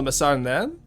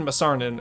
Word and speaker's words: masarnen: Just stress the last syllable so it becomes N instead. So Masarnen.